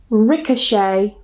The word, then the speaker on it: ricochet: So if they end with a t, we normally don't pronounce it. For example, ballet, gourmet, buffet or buffet, rapport, ricochet.